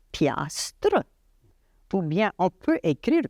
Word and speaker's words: piastre: On peut dire piastre et on connaît une piastre, c'est $1, Ouais. mais on écrit piastre.